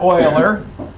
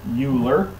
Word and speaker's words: Euler: into imaginary numbers now my friend mr oiler with some of you that are not mathematicians would pronounce euler you got that award you better know how to pronounce it then right yeah okay